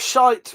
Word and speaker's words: shite: sh wouldn't really work but shite rhymes with night.